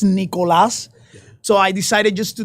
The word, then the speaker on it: Nicolas: Nick and I really my name is not Nicholas it's Nicolas so I decided just